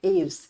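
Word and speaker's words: Aves: एवस कहा जाता है ए व ई एस इसको प्रोनाउंस किया जाता है एवस ये भी आपके क्वेश्चन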